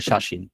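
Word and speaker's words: 写真: আচ্ছা, যেমন ধরেন আপনি যদি শাসিন লেখেন, যেমন ধরেন আপনি যখন শাসিন লিখলেন, ঠিক আছে, এই শব্দটা কিন্তু আপনি শিয়াসিন বলতে পারবেন না, আপনাকে এটাকে বলতে হবে শাসিন।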